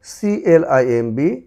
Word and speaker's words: climb: এম এর পূর্বে, এম এর পরে এবং টি এর পূর্বে বি সাইলেন্ট থাকবে। বি ও এম বি, বম্ব না হয়ে হয়েছে bomb, bomb, bomb. CLIMB, climb, climb, climb, climb.